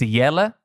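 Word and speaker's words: Jelle: day um is jelly his real name uh his real name is yella it's dutch uh but we gave him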